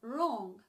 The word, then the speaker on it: wrong: not wrong brah but wrong then you have a word in English starting with W or you never pronounce the W okay so it's not